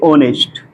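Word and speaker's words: honest: word हो सकते हमारे एच ओ एन ई एस टी इसको हम क्या पढ़ते ऑनेस्ट इसको क्या पढ़ेंगे हम नेस्ट नेस्ट म क्या होता है ईमानदार अब य भी ध्यान दीजिए क्या पढ़ रहे य आ रहा है ना ठीक है ओ के देखि य वावेल से पहले हमने कहा कि वावेल के पहले ए आ तो वावेल से पहले ए आरहा य हमारा क्या साइलेंट है ठीक और य हमारा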